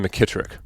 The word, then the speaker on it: McKittrick: It's always been McKittrick. Like my parents call me McKittrick. Yeah, it's never been or short. Sports teammates had to shorten it. Like McKittrick, 3 syllables is not good on a